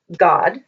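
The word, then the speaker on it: גד: And then here's the word Gad, or as it would be pronounced in Hebrew, God.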